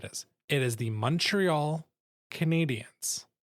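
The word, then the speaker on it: Canadiens: is silent like it's don't mispronounce the name. It's Montreal Canadians. It's it's like it's a U not an O. You don't draw it out. It's it's a very tight first syllable. And then it's spelled with an e Canadians cuz that's the French spelling. So it's Canadians like you know people from Canada.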